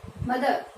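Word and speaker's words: mother: तो ये हम इसको प्रोनाउंस कैसे करते हैं, मदर, मदर। एक्चुअल में इसका प्रोनाउंसिएशन इसमें आर बोला नहीं जाता, साइलेंट रहता है, मदर, मदर है नहीं होगा, ये होगा मदर।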